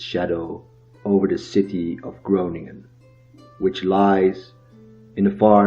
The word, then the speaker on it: Groningen: Today, however, the university city of Groningen, pronounced with the typical Dutch G as Groningen, is one of the most secular cities in the Netherlands.